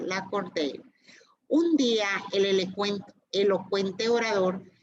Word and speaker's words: Lacordaire: la catedral francesa para escuchar la elocuencia de Lacordaire. Bueno, no lo puedo pronunciar, Lacordaire.